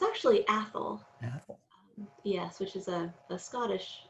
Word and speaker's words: Athol: little bit about um porter's uh first wife ethel if i did i pronounce her name right first of all well it's um it's actually athol yes which is a scottish scottish name um